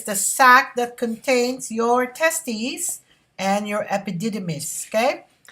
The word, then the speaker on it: testes: testes produces the sperm and testosterone your information testes okay is the plural of testis and listen to the way i pronounce it testes testis okay and it's also